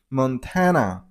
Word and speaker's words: Montana: Montana. You got a stress on the middle syllable. I mean on tan sound. So Montana. Montana.